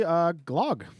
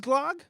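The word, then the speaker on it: glögg: So it's actually Glog. It is Glog? Mm-hmm. Okay. Glug would be the straight line.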